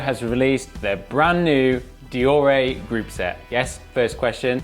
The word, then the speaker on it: Deore: This week, Shimano has released their brand new Deore group set. Yes, first question, you may have been pronouncing it Dior, but it's actually pronounced Deore.